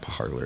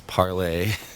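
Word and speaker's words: Parler: parlay and which people a lot of people say parlor but it's not parlor it's parlay but it's french word so it's spelled like parlor in any english speaking world you know a lot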